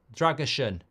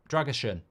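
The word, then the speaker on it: Drăgușin: um not anymore um Andre says pronounce drason but but a but like an um and S as in shot dragushan dram dragushan I think I've got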